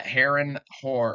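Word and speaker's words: Harren: talking about the yes that's like how it's pronounced the uh Heron Heron yeah her and Heron the black anyways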